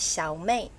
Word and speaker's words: Xiao Mei: ways or three ways one is the proper chinese mandarin way which is xiaomi okay yes xiaomi small